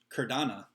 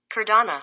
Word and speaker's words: Cardano: Cardano. Cardano. Cardano.